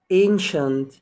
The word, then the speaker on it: ancient: بعد كده قديما ancient، ancient. يبقى يا جماعة النهاردة المقطع بتاعنا مقطع مهم جدا، وقلنا ما بينطقش السي لوحدها، طبعا السي اي اي والسي اي اي والسي اي او مع بعض بتنطق شين.